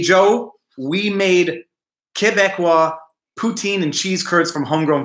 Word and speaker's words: poutine: to poutine Oh poutine it's like p oo t een phonetically poutine uhm wait wait for